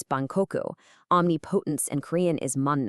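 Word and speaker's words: 万国: Take the word for all nations. In Korean, it's man guk. In Japanese, it's ban koku.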